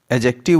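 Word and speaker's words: adjective: Guys, एडजेक्टिव word में D silent है।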